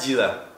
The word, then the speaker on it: дела: Как дела? Как. Try it. Как дела? Hey, say как дела. No, как дела. It's like дела. It's D-Y-E.